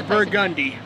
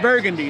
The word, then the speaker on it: Burgundy: name i think and it looks like burgundy but it's burgundy burgundy not burgundy not the color burgundy i'm on burgundy burgundy